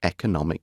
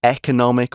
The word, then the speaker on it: economic: Treasure due to its economic value and you can say economic or economic both ways of pronouncing this word are absolutely fine economic or economic is